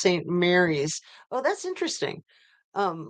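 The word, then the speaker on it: St. Maries: Dan from Spokane FYI St Marie's is pronounced Saint Mary's oh that's interesting um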